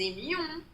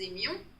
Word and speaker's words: aimions: Nous aimions, ceci, il y a le ye, nous aimions, it become past.